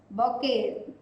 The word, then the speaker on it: bouquet: The spelling is different and the pronunciation is different. It is given as bouquet, but we are not reading it like that. It is bouquet.